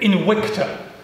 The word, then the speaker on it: Invicta: Invicta! Oh, no, not really. Invicta, as would be the correct classical pronunciation.